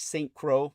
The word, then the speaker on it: St. Croix: So people can look up the Lilith St. Croix novels, spelled like Saint Crow, the last name, but it says a lot.